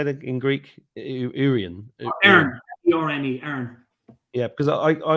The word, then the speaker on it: Erne: Erne, E-R-N-E, Erne.